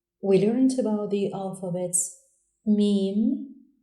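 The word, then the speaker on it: ميم: The 24th letter is pronounced Mim and is written from right to left on the line with a downward shape end of the line. Mim, like in monkey.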